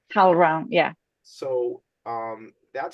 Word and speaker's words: HowlRound: HowlRound or HowlAround? HowlRound, right? HowlRound, yeah.